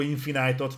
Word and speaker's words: Infinite: Továbbra is támogatjuk a Halo Infinite-ot, nem győzöm hangoztatni, az Infinite az itt van nálunk, így kiejtve. Ha bárhol látjátok, az lopva van.